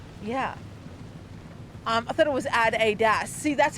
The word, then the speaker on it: Adidas: I have an American friend that I discuss this with, Adidas, and it's Adidas. There's a slight variation on how you pronounce the word Adidas, Adidas.